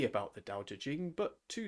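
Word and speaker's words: 道德經: The true pronunciation should be Dao De Jing.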